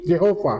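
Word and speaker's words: Jehovah: yang huruf mati semua Dikasih huruf hidup wah bacanya jadi Jehova Jehova gituah penerjemah King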